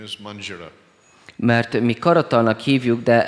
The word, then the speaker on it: manjira: The actual name is manjira. Mert mi karatalnak hívjuk, de ez a neve How to pronounce?